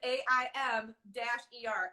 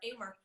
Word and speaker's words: Amer: Yes, it's AIM, like AIM, AIM-ER, Amer. So anybody who's ever wondered, it's only 4 letters.